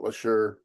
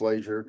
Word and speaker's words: Laser: I don't know why they keep calling it Leure, but it's Laser.